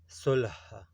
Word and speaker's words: صلح: یہ عربی زبان سے آیا ہے اردو میں۔ اس کا درست تلفظ ہے صلح۔ معنی اس کی ہے